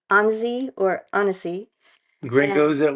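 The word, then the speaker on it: Annecy: used to pronounce it Ani which is totally wrong and we're embarrassed but um it's Anie or hesy gr go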